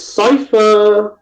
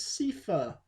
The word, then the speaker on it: Cipher: yeah next card is cipher yeah thankfully you say it right i hate when people like oh this is sifa no carry on hello